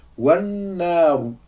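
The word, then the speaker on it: والنار: Donc là, on voit que j'ai prononcé ni Hamzatul Wasl, ni la lettre Lam.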